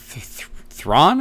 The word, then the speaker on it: Thrawn: His name is Thrawn, I think, is how you pronounce it. Something Thran? Yeah, no, yeah, that's Thrawn, the Master Strategist.